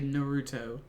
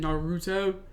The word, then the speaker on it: Naruto: I think it's a hard U. They're saying Naruto.